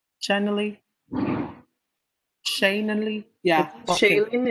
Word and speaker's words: Shailene: shane and lee yeah shaylene is correct chad is shayleen okay so do you